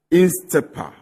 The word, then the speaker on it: INSTEPR: Kwadwo N Poku is the Executive Director of the Institute for Energy Policies and Research, INSTEPA or INSTEPR. INSTEP. That's just the R is silent.